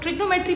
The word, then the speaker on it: trigonometry: question as well तो ट्रिग्नोमेट्री basically है क्या देखो ट्रगो we pronounce it एस ट्रिगोनोमेट्री ठीक है और यू